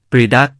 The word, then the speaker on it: ประฎาก: ถ้าเป็นหมู่บ้านกูย จะพูดได้ทั้งภาษากูยและภาษาเขมร แต่ถ้าเป็นหมู่บ้านเขมร จะพูดภาษากูยไม่ได้ หมู่บ้านนี้ ออกเสียงว่า เปรี๊ยะดั๊ก มีความหมายว่า นำพระมาใส่ หรือ หมายความถึงผลไม้ชนิดหนึ่ง ที่ชื่อว่า ประดั๊ก ผิดไปจากความหมายเดิม ที่หมายถึง บาราย ขนาดใหญ่ หมู่บ้านนี้มีที่ตั้งอยู่ในบารายเดิม บารายแห่งนี้ ขุดเป็นรูปสี่เหลี่ยมผืนผ้า มีความยาว 8 กม.